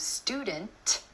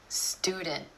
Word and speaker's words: student: Another time you're going to hear the held T is at the end of a syllable when the next syllable starts with a consonant sound.